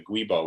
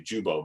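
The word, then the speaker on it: Giubo: that you know that the gubo which is mispronounced it's actually jubo but you know you're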